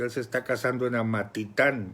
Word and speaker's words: Amatitán: se está casando en Amatitán. Yo lo estaba pronunciando mal, Amatitlán, con él es Amatitán.